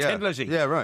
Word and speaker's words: Thin Lizzy: He said because the way we pronounce it in Ireland is Tin Lizzy, you know.